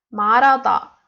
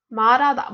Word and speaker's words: 말하다: 말하다. 말하다. But why 말하다? We say because we don't read hu sound, and we combine li plus a. A is vowel, so we read this word like 말하다.